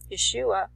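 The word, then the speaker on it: ישוע: There's no J in the Hebrew. It's pronounced Yeshua.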